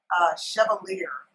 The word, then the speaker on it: Chevalier: It's C as in Charlie, H-E, V as in Victor, A-L-I, E as in Edward, R. Chevalier, I believe is how it's pronounced.